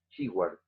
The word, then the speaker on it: Shewhart: Se escribe S-H-E-W-A-R-T. Shewhart.